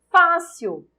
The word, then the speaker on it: fácil: Fácil é acentuado porque eu tenho uma paroxítona terminada em L. Nível. Qual é a sílaba tônica de fácil? Fá. Eu tenho uma paroxítona terminada em L. Essa é a justificativa para acentuação em fácil.